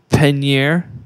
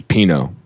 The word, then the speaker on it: Peigneur: It's Pinot. No. Just say Pinot. No, you want me to spell it to you? Lake Peigneur.